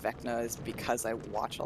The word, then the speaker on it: Vecna: How do you pronounce Vecna? Vecna. Fuck. It's Vecna.